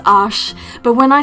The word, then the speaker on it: Arches: love it and yes i am aware that it is pronounced ash but when i say it just sounds so horribly pretentious so i'm just going to say arches because that's how we